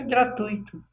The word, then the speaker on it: gratuito: E é muito mais difícil ter de pronunciar do que gratuito, né? Então, mas muitas pessoas erradamente, né, pronunciam gratuito. Isso fere o ouvido de quem sabe que está errado, né?